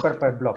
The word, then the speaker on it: Purple Blob: Bingen Gárate es uno de los fundadores de Purple Blob, Purple o Blob, pronunciado sí, en inglés como Purple Blob, ¿no?